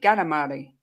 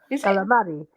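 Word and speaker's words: καλαμάρι: a sausage today uh calamari is pronounced with a G gamari calamari yeah because H or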